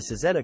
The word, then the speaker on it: Cizeta: The Cizeta-Moroder name comes from the Italian pronunciation of designer Claudio Zampolli's initials, CZ, Cizeta.